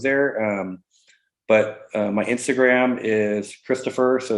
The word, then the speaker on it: Xstofr: And everybody says Xstofr, including my kids. But that is how it's said.